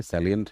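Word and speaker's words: salient: बहुत सारे लोग उसको साइलेंट बोल देते हैं, तो साइलेंट नहीं है, ये सैलिएंट है, और सैलिएंट का मतलब होता है इंपॉर्टेंट।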